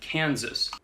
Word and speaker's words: Kansas: Arkansas and Kansas. Par contre, dans le Kansas, le S à la fin, lui, se prononce.